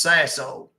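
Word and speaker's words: Sassohl: Let me spell it for you. Everybody gets it wrong. It's French. It's s a s o h l. It's pronounced sasso.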